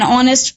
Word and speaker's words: honest: Okay, because H is silent in this word.